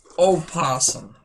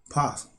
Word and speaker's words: opossum: I'ma say it like it's really supposed to be said. Opossum. Opossum. But Opossum. Okay. we say Possum.